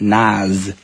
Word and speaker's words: Nas: the way it's spelled it's actually pronounced Naz with like a z sound okay his real name